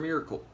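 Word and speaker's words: Mister Miracle: Miracle, or Mr. Merkel? I want to say Miracle, but it's spelled Merkel.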